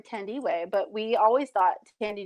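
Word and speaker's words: Thandiwe: So so I believe she pronounced her name Tandiwe, but we always thought Tandy Newton should play her.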